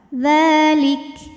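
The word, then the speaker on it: ذٰلِكَ: Dzalik. Nah, hati-hati kafnya ini selain sifat syiddah suaranya tertahan ya, lik. Di akhir dipermudah dengan adanya sifat lain yaitu sifat hams, keluar angin. Dzalik. Jadi jangan ketinggalan anginnya ya.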